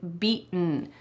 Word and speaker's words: beaten: I want you to kind of swallow that T sound.